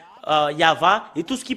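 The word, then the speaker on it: יהוה: C'est le livre de Torah qui stipule bien que c'est Yahva qu'on le prononce, et c'est avec cela qu'on le prononce au ciel des cieux, Yahva.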